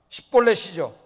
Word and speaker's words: 십볼렛: 근데 에브라임 사람들이 발음을 잘 못하는 게 있어요. 그게 뭐예요? 십볼렛이죠. 십볼렛 해보라. 십볼렛. 그런데 에브라임 사람들 그 발음을 못해요.